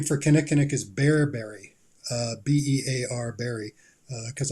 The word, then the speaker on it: Kinnikinnick: Kinnikinnick. All right. Well, I think I said it right. So you did. Kinnikinnick, there it is.